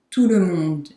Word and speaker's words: tout le monde: Tout le monde, everybody, tout le monde. And the T in tout is silent. Tout le monde.